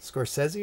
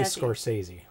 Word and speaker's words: Scorsese: movies soresi movies sesi soresi soresi nope soresi soresi is how he pronounces his his own name call it both ways so most people say Scorsese yeah wonder why that is wonder why one